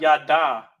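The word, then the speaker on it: ידע: Now the root word here is Hebrew Strong's 3045 yada. Yad, it's like a yad ya. Yada is how it's pronounced in modern Hebrew.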